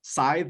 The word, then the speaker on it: scythe: grim reaper that had his scythe is that how you say it yeah that's exactly right struck the fiber optics